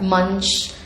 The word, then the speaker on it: Munch: Supriya, can you give me some details about that front, and am I pronouncing that right, Munch? Yeah, Munch. Okay. Like the stage Munch in Hindi.